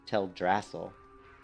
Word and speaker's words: Teldrassil: it was till drassel I always called it teldrassil I don't know about you guys would always call to tell dracil but she just pronounced it as tell drassel and it that's interesting